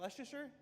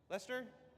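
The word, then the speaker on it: Leicester: How do you say, is that Leicer? Lester. Lester.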